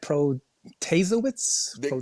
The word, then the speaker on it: Protasiewicz: Pro Janet Protasiewicz Close Protasiewicz enough.